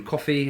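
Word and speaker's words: Ko-fi: I just want to say thank you again to any of our supporters on Coffee, and if you want to go on there, so that's spelled Ko fi.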